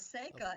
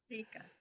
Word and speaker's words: Seeka: Plus, they were pronouncing my first name incorrectly as Seika, and it's really Seeka.